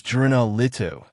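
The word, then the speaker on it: Juna Litu: Its magic word was juno litu with accents on the U for juna and the I for litu.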